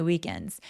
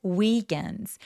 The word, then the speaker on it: weekends: 그다음에 weekends 요것도 장모음으로 weekend 아니고 weekends weekends라고 표현을 돼요. 그다음에 ds로 끝나는 단어들 생각보다 여러분 어떻게 많이 발음하시냐면 weekend we캔즈라고 하시거든요. 소리는 영어에 없어요. 을라는 모음이 없기 때문에 weekends weekends 해서 N 뒤에 그냥 s가 오는 것처럼 바람을 흘려 주시면 됩니다.